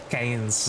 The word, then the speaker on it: Cairns: hanes it's like uh in australia there's a city named keynes cain's australia but it's spelled cairns i also heard karen's